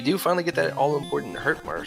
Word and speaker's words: Hurtmore: But we do finally get that all-important Hurt-More spell. I always do a terrible job of pronouncing that. Hurt more, not Hurt-More.